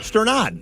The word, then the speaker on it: Sternad: They say they call him Stunad. It's not Stunad. That's an Italian slang. Yeah, Stern.